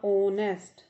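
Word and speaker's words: honest: जब vowel sound से कोई वर्ड शुरू होता है, जैसे ये देखिए द ऑनेस्ट। अब यहाँ ये जो एच है तो कॉन्सोनेंट, लेकिन यहाँ एच साइलेंट है।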